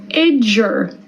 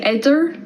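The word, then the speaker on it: idir: Idger. Idger, which means between. Idger. Notice how I pronounce that like a J. There's an I before the D and after. I don't say idder, I say idger.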